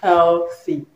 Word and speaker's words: healthy: The man is healthy. Healthy, okay, wealthy, healthy. So healthy, wealthy, okay. The right pronunciation is healthy. It has a voiceless one.